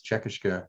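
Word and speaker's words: Čekiškė: So I am trying to use the Lithuanian name, which I believe is Czekishka, and people are welcome to correct me.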